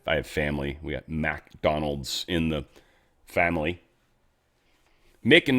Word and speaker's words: McDonald: It's not McDonald's restaurant, obviously, though many people pronounce it that way. It's MC Donald's. MC is Mick. It's always been, always will be, always should be.